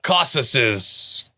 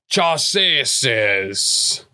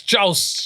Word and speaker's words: chausses: Full leathers, mail coat, and the mail caucuses. Chausses. What? Metal on the legs, that one. Oh. Metal chausses. Chaps? Curious? No, I don't know. It's spelled Chaussses. It's Chaus. Oh, yes.